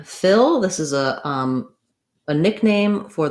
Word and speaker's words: Phil: associate for f and it's just like the word fill as in fill it up um fill a container um watch out that you use the if owl don't let that become more like a feel we don't want that tense e sound we want to have that relaxed if sound fill so punxsutawney phil um